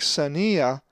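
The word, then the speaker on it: ξενία: If you said xenia, you are correct, as the accent is over the iota. Xenia.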